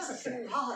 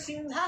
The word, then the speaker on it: सिंहा: मैं ये कहता हूँ जैसे सिंहा है ना, सिंहा, तो हा का उच्चारण हिंदी भाषी क्या करते हैं, हा करते हैं, विपरीत उच्चारण करता है।